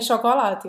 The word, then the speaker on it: chocolat: o T do chocolate. Pas de chocolat.